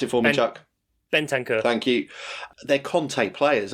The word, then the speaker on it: Bentancur: And like you say, these 2 players that have come in, because you're right to bring up pronounce it for me, Chuck. Bentancur.